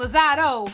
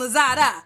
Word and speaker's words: Lozada: Now, first and foremost, it's not motherfucking Lozado, it's motherfucking Lozada, okay?